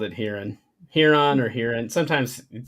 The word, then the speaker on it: Huron: do you say it I say here on Huron is how I've always said it too I say the h e sound yeah I do too here on here I don't know